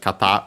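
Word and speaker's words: 方: Kata on its own is accent on the last syllable.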